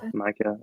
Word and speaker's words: Maika: And moving on to his counterpart in the film, is it Mika or Maika Monroe? I always say How do you Maika. pronounce that? Maika.